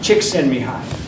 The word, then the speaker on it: Csikszentmihalyi: You pronounce his name Csikszentmihalyi, okay?